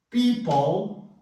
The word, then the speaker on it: people: People, ó, people, não falo o E final e entra um schwa aqui, ó.